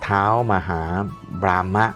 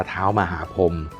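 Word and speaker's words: ท้าวมหาพรหม: อ่าน ไม่ ออก นะ อะไร เท้า มา หา บราม่า อะไร เนี่ย อ่าน แล้ว จะ รู้ เรื่อง ไหม ว่า นี้ จริง ๆ แล้ว ก็ คือ เขา อ่าน ว่า เท้า หรือ จริง ๆ แปล เป็น ไทย ใน ว่า ท้าว มหาพรหม ก็ คือ สี่ แยก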